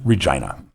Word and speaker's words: Regina: just say vagina I said the city that rhymes with fun Regina yes oh okay gotcha okay yeah Deadpool first